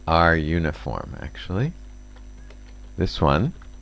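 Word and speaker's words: runif: Now, just to put this in a little bit of context, so run, I'm sorry, it's not run, it's not pronounced run. It's R uniform, actually.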